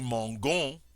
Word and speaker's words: mangeons: But notice now the difference in pronunciation. Je mange, tu manges, il mange. Nous mangeons, vous mangez, il mange.